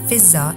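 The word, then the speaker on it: Fiddah: in Imam Hussain's camp lady feather commonly pronounced as visa in Farsi and order was the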